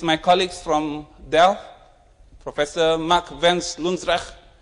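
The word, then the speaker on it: Mark van Loosdrecht: So his pronunciation was Mark Vens Lundsrecht.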